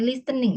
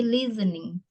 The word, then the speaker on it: listening: Nah, terus satu lagi ya, ketika kamu mempronunciation kan ya, mengucapkan listening, bukan listening ya, tapi listening. Jadi T-nya itu nggak dibaca, listening.